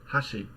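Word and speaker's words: 箸: basically what Hashi right Hashi with a higher pitch on the first more and so what happened there was the first Mora is accented so it's hiring pitch immediately there's a drop and the rest of the word the last Mora is lower hot sheet so we've basically just got this high low contrast um let's hear the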